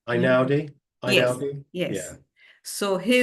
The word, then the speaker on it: Einaudi: His name is Ludovico, and I don't know how to pronounce his second name. Einaudi?